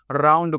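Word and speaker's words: round: क्या पढ़ना आउंड यानी ओ यू एन डी का औ हो गया उच्चारण आउंड हो गया और डी से ड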